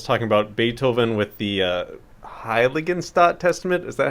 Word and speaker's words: Heiligenstadt: It just popped in my head when Laurel was talking about Beethoven with the Heiligenstadt Testament. Is that how you pronounce it, Laurel? Stalt. Heiligenstadt.